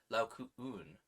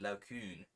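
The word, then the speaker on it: Laocoön: Is an English diaeresis indicating that each of the two vowels should be sounded as separate syllables, so it's Laocoon rather than Laocoon, which is an umlaut.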